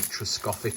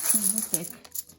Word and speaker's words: Trevithick: I can't pronounce this one. It's like Truscoffic or something like that.